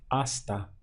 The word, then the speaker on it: hasta: Spanish and it's easy it's simply hasta so we have a H but silent the pronunciation starts from here hasta means until try